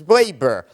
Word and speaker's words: Weber: Sawyer brothers or Max wber or Ben sha Max Weber he pronounced it or Ben sha and